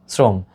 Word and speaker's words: শ্রম: ব্রত সেটা হবে ওকার শ্রম থামছে এখানে আর কোন ওকারের প্রয়োজন নেই হসান্ত হবে শ্রম শ্রম দেখো এস বলেছি